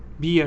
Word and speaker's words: beer: that's a strong beer so bear no bear is not what I want beer good irada sh just said it right remember bear is an animal we have bear which is a big animal pronunciation is bear okay but then we have beer which is not an animal which is a kind of drink you drink beer so again animal pear